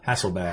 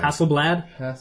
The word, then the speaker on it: Hasselblad: you say it how hasselbach hasselblad yeah is there an l in there there's an l in